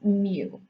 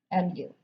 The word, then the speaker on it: mu: this is the greek lowercase m which we pronounce mu mu okay so in general when we're looking at